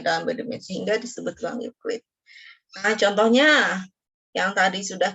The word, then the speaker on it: Euclid: Kalau ini orang Yunani ya. Yunani zaman dulu banget ya dibacanya jadi Euclid.